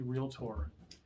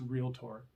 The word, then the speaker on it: realtor: agent is also a realtor two syllables by the way real tor that la la la stuff in between is okay but it's real tour uh experience it's really